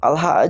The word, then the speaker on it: Allah: Sebenarnya Al-Ilah itu kalau dibaca secara pengucapannya jadi Allah. Karena dihilangkan tuh ada satu huruf yang dihilangkan begitu ya, menjadi Allah, disambung menjadi Allah.